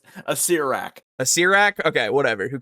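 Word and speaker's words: Acererak: You said Assessorak, and it's a Sirak.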